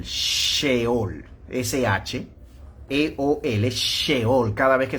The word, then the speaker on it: Sheol: almas, usted tendría que buscarlo con la palabra Seol, Sheol, S-H-E-O-L, Sheol. Cada vez que se pronuncia y se diga esa palabra en el Antiguo Testamento, usted tendría que detenerse, ¿verdad?